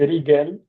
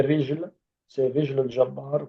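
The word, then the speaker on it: رجل الجبار: Parfois, ils disent Rigel, Rigel, parce que en fait, c'est les Égyptiens qui prononcent le G comme ga. Mais en fait, c'est Rijl al-Jabbar, donc c'est le pied d'Orient.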